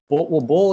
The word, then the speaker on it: Boul: bull, like like that bull, like the animal.